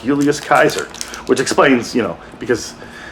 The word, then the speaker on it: Julius Caesar: so as an example recently Scholars apparently have reason to believe that Julius Caesar is pronounced Julius Kaiser which explains you know